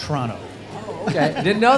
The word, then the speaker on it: Toronto: just there in toronto you don't pronounce the first o in toronto and it's toronto oh okay i didn't